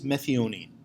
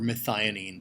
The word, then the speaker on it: methionine: though does double duty it's always methionine or methionine both pronunciations happen so methionine this is